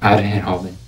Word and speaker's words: Arjen Robben: Como é que é a pronúncia, Tchola? Arjen Robben.